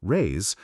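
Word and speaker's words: réis: The Portuguese pennies or rise pronounced rays are predigious.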